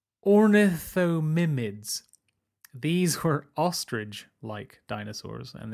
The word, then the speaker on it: Ornithomimids: The fastest dinosaur could well have been an ornithomid, or ornithomidid, very difficult to pronounce. Ornithomimids.